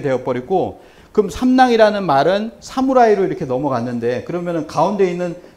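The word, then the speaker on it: 侍: 상품들이 굉장히 많은데 그게 뭐냐면 모실 시자인데 이걸 읽을 때 뭐라고 읽냐면 사무라이로 읽어요. 사무라이라고 읽거든요. 이걸 우리처럼 시 이렇게 읽지 않습니다. 사무라이 이렇게 읽는다는 거죠.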